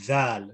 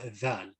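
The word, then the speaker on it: ذال: where it's pronounced from, it is pronounced with the tip of the tongue touching the edge of the upper two front teeth.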